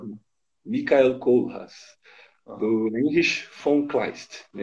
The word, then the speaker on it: Heinrich von Kleist: do Heinrich von Kleist, não é isso? Isso aí. A pronúncia alemã é Michael, né? Michael Kohlhaas. E o Uhum. autor Heinrich von Kleist.